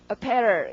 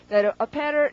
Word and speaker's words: apparel: 자, 그 다음에 강세가 두 번째입니다. 강세 두 번째 찍고 그 다음 발음을 먼저 한번 해보세요. 살짝 어떻게 될 것 같으세요? apparel 이렇게 됩니다. apparel 읽어두고 PAR에 표시해 두시고 apparel이 옷인데요.